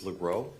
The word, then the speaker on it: Legros: Last name is Lro. That's L E G R O S. I apologize for mispronouncing it. Lero.